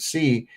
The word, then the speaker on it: qi: Be aware that the Chinese wordqi is pronounced somewhat similar to the English word C. Okay? So they c they say it's C. I've always pronounced it chi.